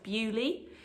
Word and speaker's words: Beaulieu: Oh, that might be backwards again, but it's pronounced Bewley in the New Forest, and they have candles,